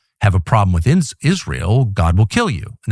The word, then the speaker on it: Israel: Israel. This is the Mike Huckabe pronunciation, Israel.